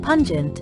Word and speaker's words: pungent: it may hurt them pungent pun plus gent pun rhymes with non and gent rhymes with gentle it means not gentle